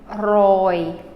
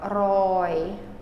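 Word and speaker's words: រយ: 100 sorry the number 100 is RO Roy Roy so this o was held out longer Roy long o and the reason why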